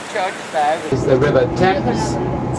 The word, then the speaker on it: Thames: That church there is the River Thames. We don't pronounce the H because the Romans called it Tamesis.